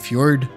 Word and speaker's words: fjord: pronounced fjord because of the J is being pronounced as a Y or an or as an I per se and it's a Nordic name.